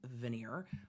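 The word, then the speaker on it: venire: is it's ven I it is pronounced by everyone that I know as veneer I understand why the court pronounces it venir but veneer also um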